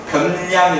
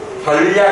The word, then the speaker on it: 변량: 변량 그니까 발음할 때 변량이 해야 되나 별이라고 하기 되 구원에 꼭 물어봐 주시기 바요 변량의 정확한 발음은 뭐 변량 변량 맞 별량 아니죠 어렵네요 자 그러면 이런